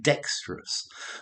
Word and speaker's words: dexterous: okay so dexterity now notice dexterous or dexterous as a brick I spell it d-e-x-t-r-o-u-s but I've noticed that the American spell it d-e-x-t-e-r-o-u-s and that's why I say dexterous whereas I think an American might say dexterous so you've got an extra um syllable in there so dexterous um play